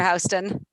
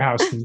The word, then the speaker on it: Houston: The Houston of New York fame was a local politician who pronounced his name that way. And so Better Houston. Better. So we learn better Houston, right?